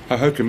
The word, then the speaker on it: Hohokum: Am I pronouncing that correctly in the first place? What, Richard Hogg or Hohokum? Hohokum. Hohokum, yeah.